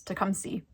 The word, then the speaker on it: Tecumseh: marketplace find in tecumseh michigan which the locals pronounce to come see um but i would pronounce it takumsa anyway whatever we don't